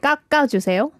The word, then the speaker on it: 깎아주세요: And it sounds like 까 is almost like duplicated when you're pronouncing. So it's like 깎아주세요.